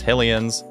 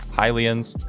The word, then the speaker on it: Hylian: say it's Helia and some people pronounce the hillians as hillions I pronounce it as hylians so it's going to